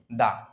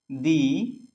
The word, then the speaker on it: the: এবং যদি টি এইচই এর পরে কনসোনান্ট থাকে তাহলে টিএইচ এর উচ্চারণ হবে দা এখানে ভাওয়েল এবং কনসোনান্ট